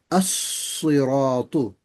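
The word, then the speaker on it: الصراط: But in the previous one, as-siratu. You can't hear the lam in this one.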